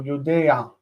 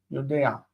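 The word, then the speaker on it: יֹדֵעַ: We pronounce the ayin with ah. So yodea, yodea.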